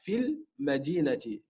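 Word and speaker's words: في المدينة: Donc, pour éviter justement deux soukouns qui se suivent, à la prononciation, on va faire comme si que le ya n'y était pas. On dira fil madinati.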